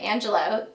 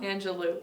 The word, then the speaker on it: Angelou: I love the quote by Maya Angelou that says, I always forget... I'm like, is it Angelou or Angelo? Angelou.